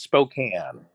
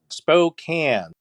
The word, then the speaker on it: Spokane: wrong okay it's pronounced Spokane Spokane spoken Spokane Spokane it spoke like a bike it spoke like a bike and then there's a can in that smoke oh